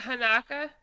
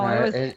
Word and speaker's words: Hanka: What's it, Hanaka? Hey, is it Hanaka or is it Hanka? I thought it was No, Hanka. it was It's Hanka. Hanka. It's Hanka. Hanka, Yeah, I think it's Hanka.